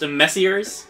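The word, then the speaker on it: Messrs.: repost but enough talk a few M mess that's pronounced messers a few messers would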